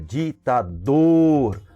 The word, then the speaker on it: ditador: Então, olha, ditador. O dor é o mais forte, nós pronunciamos com maior intensidade, ok? Então, ela é oxítona.